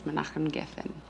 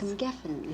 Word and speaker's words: Menachem Geffen: My husband is an Israeli, and his name is Menachem Geffen, which I don't expect people to be able to pronounce first time around because it took me some time to learn too.